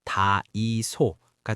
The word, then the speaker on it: 다이소: 일본어로 대창이라고 읽는 한자인데 이걸 일본식으로 읽으면 다이소가 되거든요.